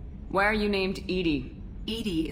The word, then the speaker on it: EDI: Edie is the phonetic pronunciation of E-D-I. That is an acronym for Enhanced Defense Intelligence.